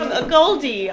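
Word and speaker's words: AGOLDE: Jeans from a Goldie. I never know how to say it, a gold or a Goldie. It's a Goldie. I've heard both a lot.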